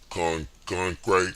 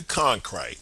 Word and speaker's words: Cronkite: Cronkite, I think that's how you say his name, yo.